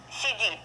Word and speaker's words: сиди: It's almost like English CD, but you see the pronunciation of Russian CD, CD, very soft. The first one, C, C, C, D, D, D. Okay, so don't say CD.